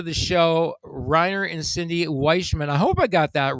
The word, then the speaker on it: Weichmann: Is it pronounced actually Wikman? Uh Witchman. Witchman.